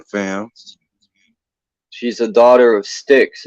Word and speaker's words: Styx: name was oh no she's the daughter of sticks oh that's s-t-y-k-s I'm just I'm googling now